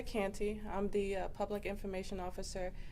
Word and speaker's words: Canty: can start by giving us your name and spell it and title okay my name is canty i'm the public information officer at rockdale county